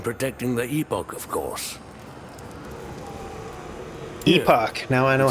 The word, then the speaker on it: Epoch: Epoch.